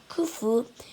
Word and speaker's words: Khufu: Khufu was the pharaoh who built the biggest pyramid of all.